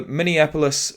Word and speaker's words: Minneapolis: Stefan Diggs wide receiver for the bills the owner of the Minneapolis miracle and I actually said it right then for once normally it's minion minion and many yeah pretty much all